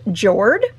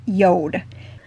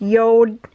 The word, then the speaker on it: Jord: share with you that it is not pronounced Jord, it is pronounced Yode. So I don't know the language that is, but anyways, it is pronounced Yode.